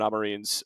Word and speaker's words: Amorim: It's available on the Patreon now, where it's basically breaking down Ruben Amorim's, that's how you pronounce that, Sam, by the way.